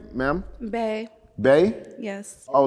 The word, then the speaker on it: Bae: what's your name ma'am ba ba yes oh like like like ba that's her real name Bae how you spell it b a e Bae ain't